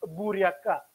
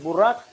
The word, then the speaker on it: буряк: пекла по-русски на произношение буряка может быть и так может быть это буряк я его неправильно называл Бурак не знаю тоже вопрос